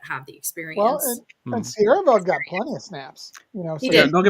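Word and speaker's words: Siereveld: Sierreveld. I always want to say Severveld, and that's not. There's not 2 V's there, so I always mispronounce it.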